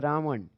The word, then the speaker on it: रावण: अवधि से है यह यह उच्चारण शुद्ध ये होता है रावण रावण ठीक है रावण लेकिन इसको हम लोग क्या बोलते हैं यह ण जो होता है यह ना बन जाता है अवधि में तो